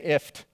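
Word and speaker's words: IFTTT: it's even worse because they actually pronounce it phonetically they say ift this is called ift it sounds like a sinus infection right you have a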